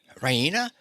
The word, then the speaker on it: Raina: of good news Rena she pronounces it Rena with the stress on the E Rena she goes to the